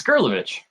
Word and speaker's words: Gerlovich: last name is it is it like gif or jiff is it gurlovich or jurlo witch it's gurlovich grilovich well see i i